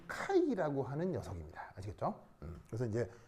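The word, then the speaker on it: χ: 이게 뭐냐면 그리스어 알파벳 중에 발음이 카이라고 하는 녀석입니다. 아시겠죠? 그래서 이제 왜 영어 알파벳에는 이렇게 쓰는 건 X잖아요. X 말고 그리스어 알파벳 중에서 이렇게 쓰는 애가 있는데 얘 이름은 크하이. 발음이 이렇게 됩니다.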